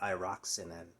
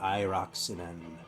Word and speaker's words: Airaksinen: Pekka Airaksinen. Or Airaksinen, probably. I think this accent's usually on the first syllable in Finnish.